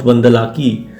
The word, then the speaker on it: Bandalike: Bandalik pronounced Bandalaki was also known as Bandhavapura is a village located in the Shikaripura Taluk of Shimoga around 17 kilometers from Balikawi.